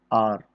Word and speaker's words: hour: तो ज़रा ध्यान दिएगा, आर, HOUR, HONEST, honest, HER, ये जो 3 वर्ड होते हैं इसमें शुरुआत का जो H होता है वो साइलेंट होता है।